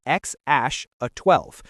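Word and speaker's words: X Æ A-12: His name X AE A12, pronounced X Ash 12.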